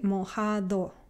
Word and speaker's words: mojado: So you say mojado. So this is like me saying the. Well, that one TH sound in the, right?